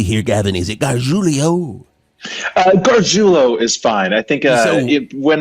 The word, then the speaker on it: Garjulo: I think when my dad, my great grandfather came from Italy, he probably would have said Garjulio, but we just Garjulo for us. Garjulio. So it does not rhyme with Coolio.